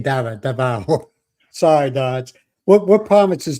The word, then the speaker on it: Davao: Davao. I'm saying Dava. Davao.